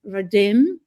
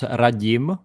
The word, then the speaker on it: Radim: I have our friend Radim, right? Did I say it right? I Well, it's pronounced Rajim, but yeah, it's close enough like Yeah, you can call me you can call me.